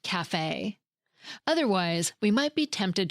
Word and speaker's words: café: In words borrowed from French, it often indicates a specific pronunciation, like that raised A sound at the end of café. Otherwise, we might be tempted to pronounce it cafe.